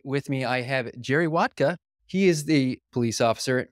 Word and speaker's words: Wodka: Well, my name's Jerry Wodka, and it's pronounced just how you think, vodka with a W.